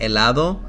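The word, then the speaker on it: helado: address with the consonants h is a silent letter so we'll most likely not pronounce it and instead we will pronounce the vowel right next to it so for example like the word that I mentioned elado we will just say the letter e which is a the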